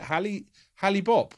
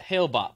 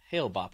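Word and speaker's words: Hale-Bopp: It was it Halley Bopp? Wasn't it? Comet Halley Bopp. Hale Bopp. Yeah, that's it. Yeah. Hail Bop, I believe is how it's said.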